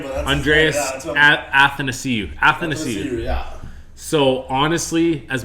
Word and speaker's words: Athanasiou: Andre Nasiu? Yeah, I was just saying, I can't pronounce his name, but that's Andreas Athanasiou.